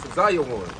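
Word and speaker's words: ציון: The Hebrew word for Zion is Tzayon. That's the Hebrew pronunciation.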